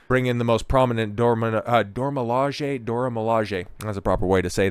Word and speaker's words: Dora Milaje: go ahead and bring in the most prominent Dora Milaje.